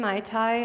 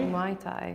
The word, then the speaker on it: Muay Thai: He's spelling it right and you're saying it wrong. How do you say it? Are you saying Muay Thai? Muay Thai. Muay Thai.